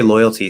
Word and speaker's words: loyalty: technically a t um now when we say loyalty see there's a trick here loyalty loyalty loyalty loyalty it's not loyalty loyalty loyalty um that would be like a d sound when we have